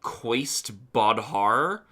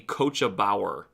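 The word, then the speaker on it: Cóiste Bodhar: really hard to read, I probably would have said that the coach that the Doulahan rides on is called the Qua Bodhar, but it is apparently pronounced the Coachabower.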